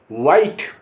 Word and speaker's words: white: और आखिर में अगर ई लिखा है तो उसका कोई उच्चारण नहीं होगा। कैसे? WIFE वाइफ, वाइफ माने पत्नी। NIME नाइन, नाइन माने 9। WHITE वाइट, वाइट माने सफ़ेद।